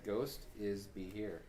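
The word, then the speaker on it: Gostisbehere: Here's how his name is said. Ghost is be here. Ghost has me here? That's how it's spelled. If you spelt it like it says, it's Ghost is be here. Except there's no H in Ghost.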